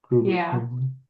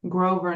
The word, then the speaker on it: Grover: That might be uh Grover Cleveland. Grover Cleveland's on the list twice. Okay. Could it be Grover Cleveland? Does that look like him? Yeah. Groover. Grover, not Groover.